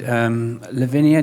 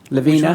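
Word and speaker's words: Lavina: other product you showed Lavinia is that what how you pronounce it levena sorry levena yeah love you know yeah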